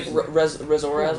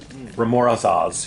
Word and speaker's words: Remorhaz: Did you say Remorhaz, whatever that? Yeah, it's unpronounceable.